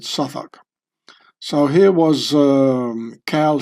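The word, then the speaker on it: Southwark: you get to uh Suffach or Southwalk as Americans would pronounce it and I would too maybe. I don't know why they the London Londoners pronounce it suffoc.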